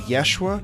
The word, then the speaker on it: YSHWA: The Tequila theme song is Ride Out by Yeshua, which is spelled YSHWA.